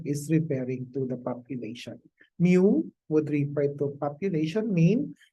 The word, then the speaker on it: mu: is a Greek letter mu it looks like a small letter U but there is a Greek letter that's pronounced as Mu is equal to summation